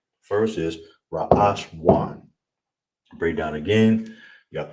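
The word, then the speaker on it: ראשון: So we have first, how you would say first is ra ash wan. All right? First is ra ash wan.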